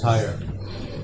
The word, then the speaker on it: Tyr: Yeah, I pronounce it tire.